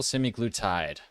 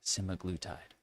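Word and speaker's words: semaglutide: weight loss products including oral simiglutide. Pronunciation simaglutide.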